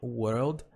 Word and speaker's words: world: Você vai no were, e você adiciona o L. World, e adiciona o D.